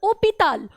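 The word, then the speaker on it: hôpital: गोस तू डी हॉस्पिटल ओपिताल ओपिताल इट्स जो है वो साइलेंट है तो उसे हम लोग वावेल ही कंसीडर करेंगे और यहां आपका ग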